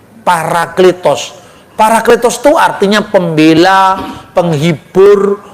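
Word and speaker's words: παράκλητος: lah bacanya para atau peri. Paraklitos.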